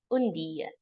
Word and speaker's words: und dir: And then instead of say India, you say Undia. Undia. Okay? So this is how we pronounce Undia. UNDDIR.